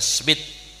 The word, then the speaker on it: Smith: bin Ibrahim bin Smith atau sumet bacanya sumet ya cuma Indonesia Smith Habib Zain bin Ibrahim